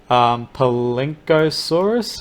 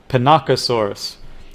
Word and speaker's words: Pinacosaurus: We've got the Palinkosaurus. Is that how you pronounce it? Pinacosaurus.